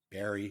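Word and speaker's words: Barre: we're gonna go to a brewery in barrie b-a-r-r-e barry massachusetts sure it is i'm like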